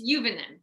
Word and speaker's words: Juvonen: two guests today uh tyler sagan and jovenen am i pronouncing that correctly it's juvenile juvenile oh uh juveniles so that's a dutch